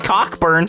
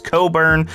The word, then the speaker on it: Cockburn: i like him and kofi cockburn i know that's not how you pronounce kofi's last name it's coburn but it's still funny okay